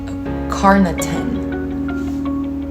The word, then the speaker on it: carnitine: as well mate carnitine carnitine carnitine okay carnitine carnitine cool not cool but that's how you pronounce it okay called carnitine decreased